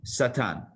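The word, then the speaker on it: שָׂטָן: So it's spelled with the letter sin, tes, and nun, Satan. Now, the letter sin could also be a shin. If you just change the dot from the left side to the right side,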